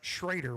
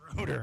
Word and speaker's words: Schroeder: fish Kentucky Lake that spell it the same way, and they pronounced it Schrader, which always threw me for a loop. There's rarely people that get it right. Appreciate you doing it. Schroeder.